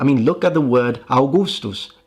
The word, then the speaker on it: Augustus: I mean, look at the word Augustus. It's spelled with V's, but I don't think anyone is expecting you to pronounce it Agvustvutz. I mean, good luck doing that.